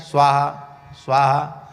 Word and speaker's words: स्वाहा: स्वा के ऊपर ही कई बार आहुति गिर जाती है, हा के ऊपर तो लौट के आ जाते हैं। स्वाहा स्वाहा ऐसे हो जाता है। स्वाहा स्वाहा और उच्चारण करना चाहिए।